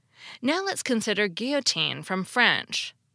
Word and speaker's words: guillotine: L now let's consider Guillotine from French most English speakers pronounce the two L's like a y as it is in French too but not all English